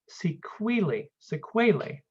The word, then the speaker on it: sequelae: this particular text it's it's pronounced sequelae some diseases leave sequelae